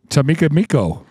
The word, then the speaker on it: Chicamacomico: Come on, this pronunciation. Chicamacomico. Chicamacomico.